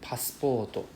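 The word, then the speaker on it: パスポート: The first U I never say, I never pronounce, it's a silent U. I just say passporto, I never say passporto. Right, so the U is silent, passporto.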